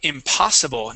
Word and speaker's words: impossible: How about the word impossible? Now give me a good P sound. Instead of impossible with a B, we want to say a P.